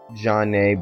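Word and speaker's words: Zhané: Changing Faces, Janae, but they're spelled like ZHANE, 702.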